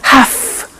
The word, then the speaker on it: have to: pronunciation I have to notice I don't say V I say F have half it becomes have to have to becomes in pronunciation have